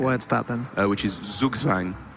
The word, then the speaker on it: Zugzwang: Which is Zugzwang. Zugzwang, a German word. I'm sure I'm pronouncing it wrong as well. Zugzwang? Zugzwang or Zugzwam. Gugzwang? Zugzwam. It sounds like Zerg Swarm is the way I remembered it.